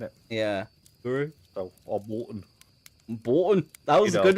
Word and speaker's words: Bolton: So, or Bolton. Bolton. That was a good one. That was a good one. Bolton. The only place where they pronounced an O was a U.